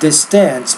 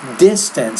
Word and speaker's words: distance: interesting way understand and the stress here is distance not distance but this distance so stress is on the first syllable not the second syllable American 10 2012 more